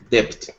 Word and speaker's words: debt: It's a debt. Oh, debt. Okay, so with this word, we do not pronounce the B. The B is silent in this word.